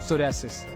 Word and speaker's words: psoriasis: है इसको कहते हैं सोसिस अब ये पी तो इसके ऊपर साइलेंट है मगर वो सोसिस सोसिस सोसिस सर इसकी